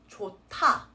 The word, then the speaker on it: 좋다: So again, it's 좋다, 타, T sound. This word is the adverb version of 좋다.